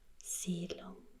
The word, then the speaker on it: Siedlung: So the E is silent, just means you have a long I. Siedlung.